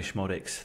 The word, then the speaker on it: Schmodics: I've gone with Sammy Schmodics, the Schmod man, the Z is silent.